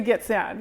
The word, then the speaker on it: Gitxsan: And Erica is from Northern BC and from the Gitxsan. Did I say it correctly? The Gitxsan, yeah.